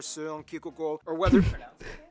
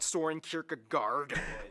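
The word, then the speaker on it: Søren Kierkegaard: hans christian andersen philosopher seung ki or weather that's actually how you pronounce his name it's not soaring kierkegaard it's or whether it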